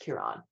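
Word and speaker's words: Ciaran: looks up and then just says John's it's pronounced Kiran but yeah very common name in Ireland but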